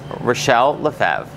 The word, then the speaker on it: Rachelle Lefevre: of the new film reclaim from Lion's gate relle leev I love that you pronounced it properly thank you thank you this